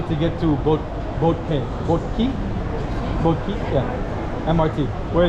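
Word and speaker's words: Boat Quay: It's in the boat key or boat quai. How do you say boat key or boat? Boat key. Boat key.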